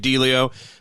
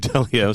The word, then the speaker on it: Delio: you, to have thought, I said it wrong at first, I said Dave Delio, but then I thought your name is actually Dave Delio, so, you know, things develop, just like Newman said.